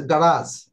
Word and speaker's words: garage: লাস্টের ওয়ার্ডটা লাস্টে হচ্ছে গারাজ। Actually, definitely you should learn the proper accent, proper pronunciation.